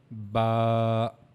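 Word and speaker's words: ب: Now how we have to pronounce this? Look at this picture. This is the makaj or the articulation point of the ba. As you can see here, we have to use our inner sides of the lips.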